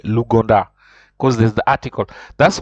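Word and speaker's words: l'Ouganda: it is a Lu o u is pronounced o so luganda that's how you pronounce Uganda you say luganda because there's the article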